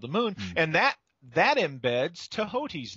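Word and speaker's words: Thoth: Tehoti is the correct pronunciation of the T-H-O-T-H, right, according to most scholars.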